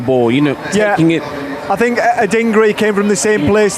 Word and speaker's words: Adingra: Adingra.